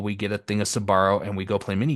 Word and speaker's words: Sbarro: I actually hear it pronounced correctly, I always pronounce it at Esbarro.